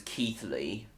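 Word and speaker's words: Keighley: Keeley. Well, I just pronounce it as Keithley.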